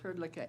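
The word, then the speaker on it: Hrdlicka: Um, next we'll do uh ask Herlea. Am I pronouncing your last name correctly? Uh, yes. Herlea.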